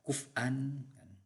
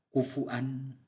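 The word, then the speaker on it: كفوا: Karena kemudian kata kufwan itu ketika sudah masuk ke qiraatus sab'ah ini membacanya bervariasi. Ada yang membaca kuf'an, ada yang membaca kufu'an, jadi sudah tidak waw lagi, sudah tidak waw.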